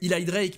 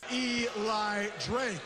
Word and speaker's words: Eli Drake: Alors qu'il a popularisé ses catchphrases et son personnage, et que désormais son nom ne se prononce plus Eli Drake mais bien Eli Drake, il obtient une nouvelle